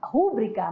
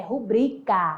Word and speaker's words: rubrica: no dia a dia pessoa fala rubrika mas o certo amado é rubricar esse é o céu